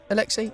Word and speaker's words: Alexi: Well, It sounds how it's spelt. Dave knows one thing. It's how to read. What are you talking about? It's not even a difficult one. Alexi. Is it right? Alexi?